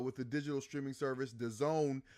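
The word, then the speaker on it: DAZN: the Digital streaming service The Zone I think that's how you pronounce it d-a-z-n uh I think it's pronounced the Zone um and they're all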